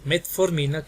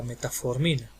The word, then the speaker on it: metformina: Por ejemplo, si está tomando metformina, que no diga la metaformina.